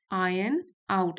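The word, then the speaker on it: iron: आर एन आउट आउट आयरन आउट इसको are silent होगा आयरन आउट weaknesses क्योंकि जो यह गलतियां होती है ना यही आपको हेल्प करती हैं।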